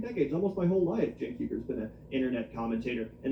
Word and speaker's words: Cenk Uygur: It's not that hard to say Cenk Uyghur. It's really not that hard to pronounce Cenk Uyghur, but people constantly, continuously mispronounce it to his face.